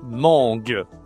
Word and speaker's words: mangue: C'est la mangue. La mangue. OK. Tu utilises le nez, hein, c'est en la nasale pour la mangue.